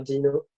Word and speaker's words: Deno: Non, mais les anglophones commencent de plus en plus à dire Dino, en particulier l'équipe Core, et d'où Le dinosaure.